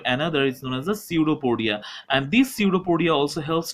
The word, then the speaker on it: pseudopodia: known as the pseudopodia it starts with p but p is silent here so that's why this